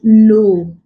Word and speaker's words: know: is Decay is silent examples we have no Decay is not pronounced it doesn't produce the consonant sound in this way what we have is no so if you have